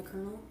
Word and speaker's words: colonel: Honestly, why is colonel pronounced with a R? Let's start with that. Because in Nigeria, it's colonel. That's literally what it should be. Colonel.